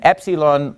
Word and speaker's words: Epsilon: the lowercase Epsilon and Epsilon makes the a sound now remember the Greek alphabet the first sound sound of the name of the letter tells you what sound that letter makes so Alpha says a Vita says V GMA says G Delta says the and then Epsilon says e e Epsilon now the good